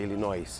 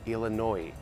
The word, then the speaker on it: Illinois: Outra, Illinois, não é Illinois, é Illinois. O Arkansas aqui também não pronuncia o S.